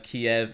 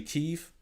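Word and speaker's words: Kyiv: the same with uh kiev is actually chief i didn't know about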